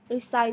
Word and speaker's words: resign: Autumn with a silent N, sword with a silent W, resign with a silent G, psychology with a silent P, and right with a silent W.